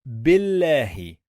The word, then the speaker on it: بالله: We have here lam with shadda. What does it mean? It means we are going to pronounce the letter 2 times.